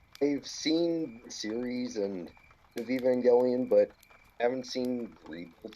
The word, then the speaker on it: Evangelion: even evangelion oh evangelion evangelion yeah it's evangelion i've been pronouncing it with like a uh a j sound dude you better hope